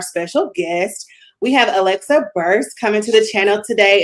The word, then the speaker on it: Burse: We have Alexa Burst coming to the channel today. And make sure I'm pronouncing that right. Um, your last name. Yeah, it's like purse with a B. Boom. So Alexa Burst, welcome to the channel.